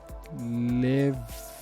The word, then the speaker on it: levee: grab let's grab this it's pronounced leave is that levy not levy okay so